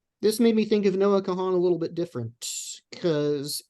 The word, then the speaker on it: Noah Kahan: title dial drunk by Noah Kahan and that would be Noah like Noah's Ark and Kahan is spelled k-a-h-a-n um he's sort of